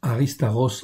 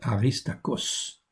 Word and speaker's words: Aristarchos: Paulos, donc on prononce Aristarchos en fait en hébreu, si c'était en grec on prononcerait Aristakos. Ok, donc mais on va le prononcer plutôt à l'hébreu, en fait, à la, comment dire, comme en hébreu.